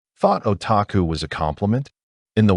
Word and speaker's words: otaku: It's always pronounced the same, otaku.